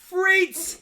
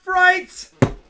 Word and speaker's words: frites: And it's pronounced frites, not frights.